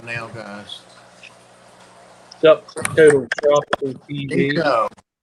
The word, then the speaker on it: Nico: Nico. And it's spelled just like it sounds. Hey, Nico.